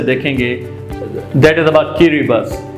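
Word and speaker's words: Kiribati: तो आप सोच रहे होंगे कि इसकी स्पेल है KIRIBAT, तो व्हाई आई am pronouncing it like किरिबस। तो अगर आप इनके साउंड पे जाएंगे तो इसका साउंड और इसकी स्पेलिंग में बड़ा डिफरेंस आएगा। तो इट्स किरिबस, इट्स नॉट किरिबती और किरिबत, राइट।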